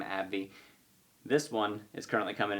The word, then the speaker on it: AbbVie: play this is abbvv i pronounce the company's name abby this one is currently